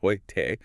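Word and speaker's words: heute: Hoyt, meaning today, pronounced hoyte, or new, meaning new, is noi.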